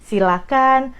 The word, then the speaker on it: silakan: Jadi, silakan, persilakan, jangan pakai H, itu dari pronunciation-nya.